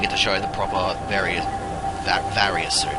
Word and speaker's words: Varia: very that various suit i don't know why people pronounce it barrier the games themselves pronounce it barrier but i still don't think that's correct because it's a mistranslation of barrier from the japan from the japanese version it just used to be called barrier but now it's called uh the various search but i'm going to pronounce it very soon if anybody wants